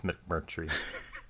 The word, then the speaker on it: McMurtry: I don't trust your pronunciation anymore after the Killian incident. No, you got to check it out. It's McMurtry.